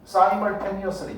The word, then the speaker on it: simultaneously: simultaneously 뒷평가에 나오는 단어야. 이거 발음을 해보라고 했더니 시멀이라고 그러던데 영국식입니다. 그건 미국식, 우리는 북미 발음을 따르게 돼 있거든요. 영어 교육이요. simultaneously라고 반영하셔야 돼요. 됐어요?